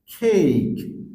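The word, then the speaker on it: cake: না কোন লেটারের মধ্যে শব্দের শেষের ই থাকলে মানে কোন শব্দের শেষে যদি ই হয় তাহলে ই এর উচ্চারণ হয় না যেরকম খেইক খেইক অর্থাৎ লাস্টে ই আছে ই আমরা সাইলেন্ট করছি বোঝার সুবিধার্থে সেম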